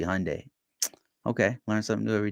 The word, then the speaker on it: Hyundai: Somebody is laughing at me because I pronounced Hyundai wrong because I said Hyundai. It's supposed to be Hyundai.